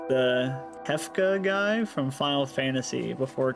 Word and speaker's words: Kefka: That sounded an awful like the Kefka guy from Final Fantasy before cutting the black. Did I pronounce that right? You're a Final Fantasy guy. Yeah, it's Kefa.